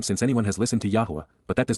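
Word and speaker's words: Yahweh: Yahwa Yahwa God's personal and proper name pronounced.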